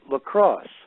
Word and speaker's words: LCROSS: out of NASA Ames called LaCrosse. And that was an acronym which stands for something, and I don't remember what it stands for at the moment, but it's spelled LCROSS.